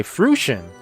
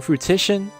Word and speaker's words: fruition: years i've been saying fruitician let me add that to the list of things i say wrong pronounced fruition oh fruition so i've been saying fruitician adding in another syllable and says fruition fruitition